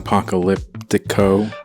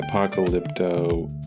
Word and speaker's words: Apocalypto: You said Apocalyptico. Uh yeah, Apocalypto, however you say that.